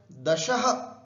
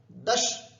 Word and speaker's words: दश: तो यहां पर हलंत भी नहीं है और विसर्ग भी नहीं है, तो उच्चारण दशः ऐसा भी नहीं करना है, दश ऐसा भी नहीं करना है, दश है ना, दश।